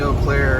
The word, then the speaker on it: Eau Claire: I'm approaching Eau Claire, and that's how it's pronounced perfectly.